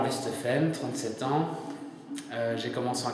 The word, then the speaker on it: Westhofen: Westhofen, bonne prononciation.